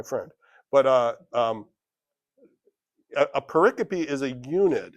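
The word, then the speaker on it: pericope: It's I used I'd read that and I'd say paracoup, but it's like no, it's pronounced paricopy. I check this. Google is my friend. But uh um a paricopy is a unit.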